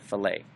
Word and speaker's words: fillet: something called stelae or they call it fill it but some people pronounce it fillet all right it's kind of like fish fillet you click on that